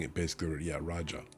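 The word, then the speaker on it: Rajah: You're saying it basically, yeah, Raja. It's a Raja. It's not a Raj.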